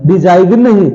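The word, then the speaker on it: design: है ये डिजाइन है डिजाइन डिसिन डिसिन डिसिन नहीं है बेटा ये डिजाइन है इसमें जी क्या है साइलेंट है ठीक है आइए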